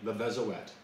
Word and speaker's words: Le Vézouette: Now, And by the way, that's how they pronounce the name, Levezoet. The T is at the end, and normally you would think Levezoe, and that's how we've been pronouncing it. But remember, we're not just in France, we're in Brittany, and in Brittany they have their own language, they have their own pronunciation of things. So we're now learning how to pronounce things in a Breton way.